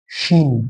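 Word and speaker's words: ش: বলবো সিন, আর নক্তাওয়ালা তিন নক্তাওয়ালাটা কি বলবো শিন, এটা উচ্চারণ একটু মোটা হবে, শিন, এটা কি বলবো শিন, সদ, জদ, জদ, ত, জ, আইন।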